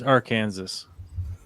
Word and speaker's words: Arkansas: I don't even know what foreign language you could pronounce that in that would make it Arkansas. It's Arkansas.